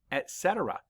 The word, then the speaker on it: etc.: but you didn't know it was actually pronounced etc.